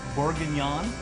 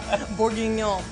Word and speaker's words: bourguignon: It's short rib bourguignon. Did I say that right? You said it right. You can say bourguignon.